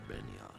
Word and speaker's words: Begnion: move and sets out for Benyon. Benyo. Soon for the sounds of the local I'll never understand why that guy pronounces Begnion with a silent G.